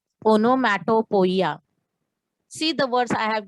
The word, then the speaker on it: onomatopoeia: See the pronunciation of word. Onomatopoeia. Onomatopoeia.